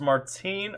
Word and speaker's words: Martin: Martin, but pronounced Martine.